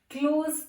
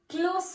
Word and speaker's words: close: When it is used as verb, it is pronounced as Z sound. Close the door. He is my close friend.